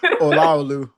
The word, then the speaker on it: Olawale: Can you Can you pronounce your name? Olawale.